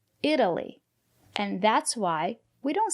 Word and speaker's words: Italy: If it's not stressed, we pronounce it as D, Italy.